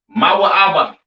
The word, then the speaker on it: Moab: have Moab all right Moab pronounced ma ABA right the children of